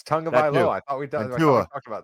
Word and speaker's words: Tonga: It's Tonga.